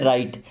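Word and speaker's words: write: देखिए आर के पहले अगर डब्ल्यू आ जाए या ऐसा बोले कि डब्ल्यू के बाद अगर आर आ जाए तो हमेशा डब्ल्यू हो जाता है साइलेंट ओके आप पढ़ते हैं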